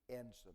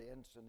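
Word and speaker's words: ensign: And then there's the enson. The word enson is spelled ensi gn. It comes from the Latin word for teacher.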